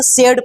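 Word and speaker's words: said: अब क्या लिखा है एस ए आई डी इसको क्या पढ़ेंगे सेड पढ़ेंगे पढ़ेंगे।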